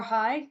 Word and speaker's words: High: everyone my name is Star High just like hello um is how you pronounce it and um I uh